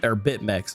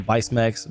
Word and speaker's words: Bitmex: Is Bitmex. I've always called him Bicemex, but Bitmex, I believe, is how it's pronounced.